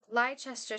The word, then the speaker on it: Leicester: Leicester Square. Leicester Square. 2 syllables.